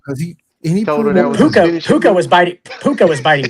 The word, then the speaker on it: Puka: How do you pronounce his first name? P U A puka.